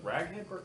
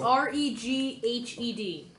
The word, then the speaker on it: Reghed: Yeah, I was like, Not raghead. Oh, that's absolutely what I heard. That's what I heard too. It's R-E-G-H-E-D. Reghed. R-E-G-H-E-D. Reghed. That's that clan? Yeah, Like clan raghead? they've settled by the Reghed Glacier.